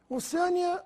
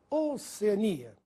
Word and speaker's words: Oceania: a forma nóbel como Alguns falam oceânia ou Oceania já ouvi gente falar oceânia deve ser por causa da palavra oceano mas não confunda pois o nome do continente é Oceania na aula de hoje